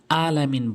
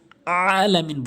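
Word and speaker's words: العالمين: অধিকাংশ লোক যে ভুলটি করে আলামিন বলে, যা অর্থ চেঞ্জ হয়ে যায়। আলামিন বলতে হবে, অর্থ সঠিক দাঁড়াবে আলামিন।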